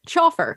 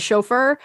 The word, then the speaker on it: chauffeur: words by reading them like chauffer that is chauffeur facade that is facade